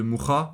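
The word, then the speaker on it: Mucha: de l'Art Nouveau euh de mha ou ma ça dépend comment vous le prononcez euh et de bah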